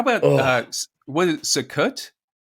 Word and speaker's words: Sukkot: How about what is Sukkot? How do you pronounce it?